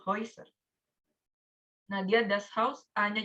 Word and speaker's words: Häuser: Kalau ada A umlaut ketemu U, bacanya OI. Die Häuser.